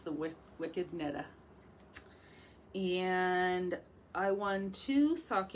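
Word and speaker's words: Knittah: knitta and that's uh k-n-i-t-t-a-h so i'm not pronouncing that wrong it's the wicked netta and i won two sock yarns one called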